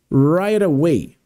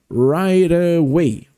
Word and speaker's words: right away: Perceba que a pronúncia, quando a gente fala separado, faz esse sonzinho de T, né? Right away. Porém, quando a gente fala numa frase, falando bem rapidinho, aí fica esse right away, right away, right away, ok?